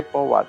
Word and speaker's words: Powerade: Eu falo Powerade, mas é Pauado, né? Na pronúncia, né?